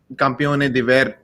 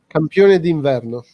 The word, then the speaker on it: campione d'inverno: The biggest point they have is that no campione di Verno. What was it? Verno? How do you say it? Campione d'inverno.